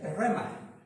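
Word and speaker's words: ῥῆμα: que se escribe, y la voy a deletrear por si está escribiendo, J-R-E-M-A. J-R-E-M-A. La pronunciación, hasta donde he podido verlo, ¿verdad?, constatar, es rema.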